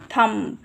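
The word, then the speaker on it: thumb: हैं कि वो नहीं सुनाई दे जैसे कि थम तो हम उ पे ही खत्म कर देते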